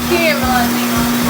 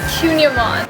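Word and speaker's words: kouign-amann: It's like whatever you recommend, that's what I'm gonna The Cunyaman. get. Yeah. How do you say it? Cunyaman.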